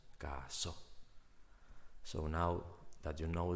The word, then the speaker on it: casó: El caso fue resuelto por la policía.